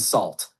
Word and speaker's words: salt: The pronunciation of salt in that context is with an a sound similar to salt. It's not like sort which has more of an or sound. So sugar and salt would have that a vowel in salt.